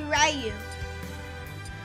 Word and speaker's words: Ryu: So, Ryu, it's pronounced Ryu or Ryu, but it's really Ryu.